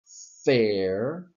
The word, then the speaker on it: fair: ir fair and fair in pronunciation there is no difference please please do not create a difference in pronunciation that does not exist so you would say fair and fair the only differences are in spelling and meaning okay not in pronunciation and if I have